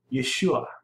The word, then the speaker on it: Yeshua: of your neck who announces salvation and I'll pronounce it yeshua this that's Jesus's name yeah who announces salvation